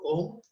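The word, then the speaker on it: ॐ: Second meditation is Nad Anusandhan, where we do the chanting of Om. So Om is made up of 3 syllables, where A, U and Ma.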